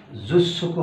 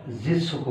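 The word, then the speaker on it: 十足: 10 জু যোগ সুকু আগের মতোই জুস সুকু হওয়ার কথা জুস সুকু হওয়ার কথা বাট জাপানিজরা জিসুকু বলে জিসকু জিস ছোকু তো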